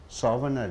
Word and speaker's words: souvenir: Four sounds are there. Whenever a noun ends with ER, the vowel before the ER, that syllable should be stressed. Ni, souvenir, souvenir.